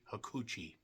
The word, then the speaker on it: Hakushi: The guy that played Hakushi just always sounds so dirty. Hakuchi is what it sounds like.